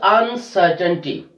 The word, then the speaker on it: uncertainty: The word is uncertainty. Uncertainty. So we are stressing on third from the last syllable, which is C-E-R, uncertainty.